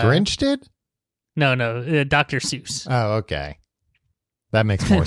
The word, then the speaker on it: Seuss: He he changed the pronunciation. Oh, but it is to be associated with Mother Goose. Dr. Seuss.